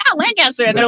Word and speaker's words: Lancaster: So how did you end up in Lancaster?